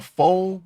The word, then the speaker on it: faux: I with a faux a faux Bob that's how you say it right F Au ux fo I went with